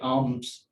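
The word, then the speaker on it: alms: और इसी तरह से जो सेकंड वर्ड है ये आर्म्स, इसमें यानी एल जो है वो नहीं पढ़ा जाता।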